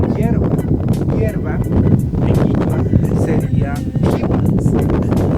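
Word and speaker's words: hiwa: Hierba en quichua sería jiwa. La H se pronuncia J, H-I-W-A, jiwa, H-I-W-A, jiwa.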